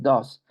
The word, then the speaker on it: does: Ya no es do. La pronunciación es does.